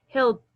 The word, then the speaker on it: helped: No vamos a pronunciar la D ni la E, sino que las dos letritas se convierten en T.